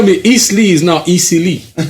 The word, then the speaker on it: Eastleigh: Easily, that's how that's how they pronounce it.